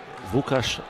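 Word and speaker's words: Łukasz: Vukas Vaklavsky. It looks like an L, but it's pronounced W.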